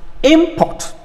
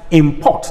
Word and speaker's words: import: the next one is import import a noun then the next one is import i am asking you to take an action then escort he is